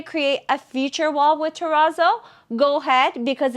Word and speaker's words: terrazzo: way and I know the proper way of saying this is Terrazzo but we are Canadian so our pronunciation is not the same so excuse us we call it Terrazzo and the last item